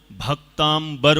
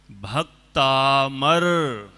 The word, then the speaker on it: भक्तामर: होती है भक्त अमर ध्यान रखें बहुत लोग भक्तांबर बोलते हैं।